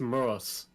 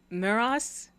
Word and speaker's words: Moros: It's pronounced Moros. Miros? Nope.